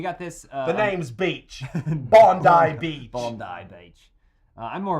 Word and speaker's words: Bondi: Because there's Bondi Beach.